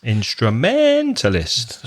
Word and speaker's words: instrumentalist: that's a long word how many syllables in that instrument list five syllables instrumentalists stress the middle one instrumentalist but create what